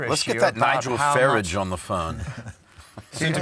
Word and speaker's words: Farage: Farage. Farage. I think we should have that guy. Farage. It rhymes with garage.